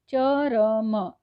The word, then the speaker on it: चर्म: का हो गया अंतिम, लेकिन यहाँ पर उच्चारण कैसे हो रहा है, चर्म, यानी च और म के बीच में ये जो र आया है उसका उच्चारण पूरी तरह से नहीं बल्कि धीरे से आ गया है, तो इसे चर्म कहा गया है।